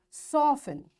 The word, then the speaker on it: soften: these words next is t is silent in the following common english words so what these words are listen fasten castle orphan whistle soften hasten bustle and gourmet in all these words letter t is silent so in this